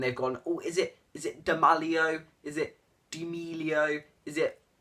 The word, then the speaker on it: D'Amelio: It's D'Amelio. Just get that in your mind and say D'Amelio. Don't go D'Amelio.